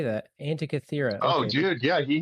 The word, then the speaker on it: Antikythera: Antikythera.